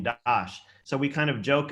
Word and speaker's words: Das: one of those families their last name is dash d-a-s pronounced dash so even though it's illegal people know from